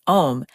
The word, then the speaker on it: OM: She had popularized the term orgasmic meditation or OM, pronounced M, and founded a company called One Taste, to teach students how this partnered clitoreral stroking technique could transform their lives.